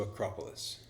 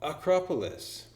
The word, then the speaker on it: Acropolis: was happening you see although my pronunciation was correct in fact we had the same word in English my stress was on the K and her stress was on the a a small change but